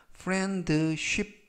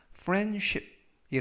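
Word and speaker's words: friendship: 라고 발음 하시면 되겠구요 이때에 주의하실 점은 가운데 부분에 있는 알바 베띠 가 이번 단어에서 머금은 아니지만 발음이 거의 되지 않습니다 그래서 프렌드쉽 보다는 플랜 쉽이 라고 발음 하시면 좋겠구요 품사는 명사 뜻은 우정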